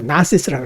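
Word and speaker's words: Gnosis: 이것은 이제 그노시스라고 그러죠. 사실은 그 발음을 안 하고 나시스라고 그래요. 영어로는. 내면의 지식, 빛을 갖고 그것이 이제 구원을 얻게 해준다는 것이죠.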